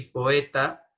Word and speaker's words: poeta: Porque OE se pronuncia como E, sin embargo en estas palabras se pronuncia por separado. Proelium, que también es neutro, y poeta, ¿no?